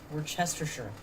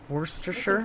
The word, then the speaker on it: Worcestershire: in a little pepper rhymes with rooster worcestershire put diced carrots in